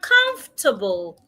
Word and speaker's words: comfortable: Another is the word comfortable. Not comfortable.